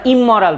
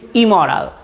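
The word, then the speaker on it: immoral: আমরা ইমমরাল বলি, ইমমরাল না, the pronunciation should be ইমরাল।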